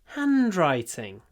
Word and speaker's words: handwriting: of two words handwriting the stress is on the first one so we say h and writing and then the writing is smaller handwriting handwriting beautiful handwriting